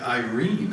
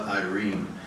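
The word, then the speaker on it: eirene: It's spelled E-I-R-E-N-E, and it looks like it sounds like Irene.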